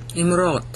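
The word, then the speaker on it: אמרות: Imrot. You pronounce it with an I. All right, not an A.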